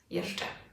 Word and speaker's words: jeżdżę: Let's take the first person. Jeżdżę. Dże. Dże. Let's add the first syllable in. Jeżdżę. Jeżdżę. Jeżdżę. You hear it?